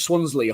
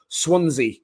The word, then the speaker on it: Swansea: Sometimes I say Swansley, I think, but I know it is Swansea.